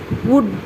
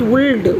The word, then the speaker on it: would: So like should, we should not pronounce the L here. So it should be pronounced as would, not would.